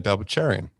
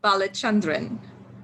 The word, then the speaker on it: Balachandran: so well and the surname goes balachandran okay yes now we've